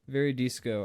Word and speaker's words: Veridis Quo: I must now listen to Veridis Quo. Veridis Quo. Very disco. Actually, Mad Lad said. Oh, very disco. I know. I never put it together until Mad Lad pronounced it, and then I was like, "Oh my fucking god!"